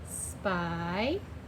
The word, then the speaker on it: spy: Oh, I only see one vowel in a one-syllable word. Y says I.